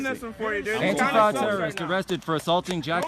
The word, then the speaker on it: Antifa: And now there's, okay, this, how's it pronounced? Antifa? It's Antifa.